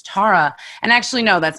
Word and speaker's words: Thara: Because Tara is spelled T-H, so it was always either Tahara or Thara. I'm like, oh God, that's not how you say it.